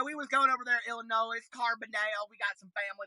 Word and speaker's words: Illinois: But I can't stand when people say Illinois with an S, okay? The S is silent on Illinois.